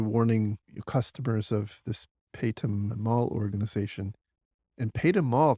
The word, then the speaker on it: Paytm: India called pum mall I think it's called pum or pronounced pum P Y TM and very recently a